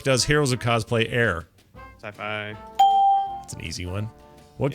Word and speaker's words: Syfy: Syfy. That's an easy one. What character from Dragon Con? Only 3/4 a point though. You muttered. See, it's weird. It's so Sorry, weird. it's pronounced Syfy.